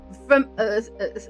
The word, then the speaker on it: fromage: How to pronounce fromage? Fromage.